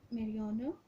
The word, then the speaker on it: marijuana: Some kinds of drugs that cause disturbance of mind and physical body are heroin, marijuana, इसकी pronunciation है marijuana, tobacco, Valium, cocaine and alcohol.